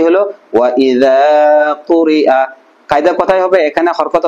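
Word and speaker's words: وَإِذَا قُرِئَ: ঠিক আছে, তাহলে উচ্চারণ কি হবে ওয়া ইযা কুরিআ।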